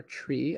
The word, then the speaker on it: trie: one data structure was a try or tree i guess according to the official pronunciation and uh apparently i'm